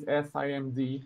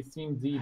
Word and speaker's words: SIMD: Yeah, if you pronounce each letter, yes, it is SIMD, but people just say CMD because it's faster.